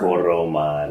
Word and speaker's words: Toroman: Is it Tormund or Tormund? Right, though? It's Tormund. Yeah, it's spelled Toroman. T-O-R. You got to roll the tongue on the R? Toroman.